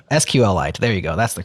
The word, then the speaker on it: SQLite: I don't know I always say it wrong sqlite there you go that's the correct way of